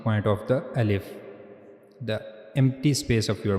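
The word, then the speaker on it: ا: So you have to read al if from this space al if.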